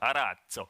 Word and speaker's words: Arazzo: Just 2 weeks ago, we announced a new specification from OAI, which is called Arazzo. Now, I promise I will say it like this, Arazzo, because it's an Italian word.